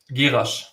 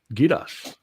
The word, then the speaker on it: Gerasch: Gerasch. Gerasch. Gerasch. But that's German though.